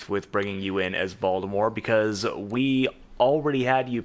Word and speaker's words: Voldemort: No, Yeah, Voldemort is the correct way to say it now.